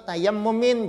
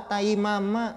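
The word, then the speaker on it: تيمم: Wa tayammumin, itu bacanya ta ya mim itu tayammumin. Jangan pian baca wa taimama.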